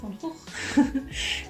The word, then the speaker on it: Van Gogh: I'm a Dutch person, so I should pronounce it as it should be pronounced, which is Van Gogh.